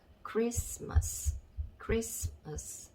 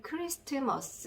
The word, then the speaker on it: Christmas: 자, 그리고 어자 적어주시고, 맨 끝에 있는 S 밑에는 쌍시옷 적어주시고, 그러면 조합을 해보시면, 자, 크리스마스 이렇게 발음이 되겠죠. 여기에서 T를 크리스트머스 이렇게 발음을 너무너무 하고 싶지만, 자, 여기에서 T는 묵음이다.